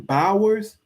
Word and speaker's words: Bowers: buyers buyers that's how you say his name Bowers that guy there will be good in the